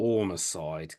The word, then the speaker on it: Ormacide: We're taking a short little trip over to Canada for the second album from Archray Billis called, is it Ormacide? Is that how you pronounce it? Ormacide, correct.